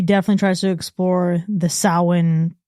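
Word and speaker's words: Samhain: Yeah, this movie definitely tries to explore the sin like Sam Hayne of it all depending on the pronunciation that you go by. Sin being the correct Sam Hayne being the Halloween pronunciation of it.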